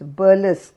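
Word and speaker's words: burlesque: romances of his times burlesk b e bu r l e s q u e burlesk shazza employed three principal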